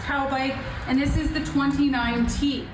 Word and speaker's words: Taubik: T A U B I K pronounced c tow bike and this is the 29T.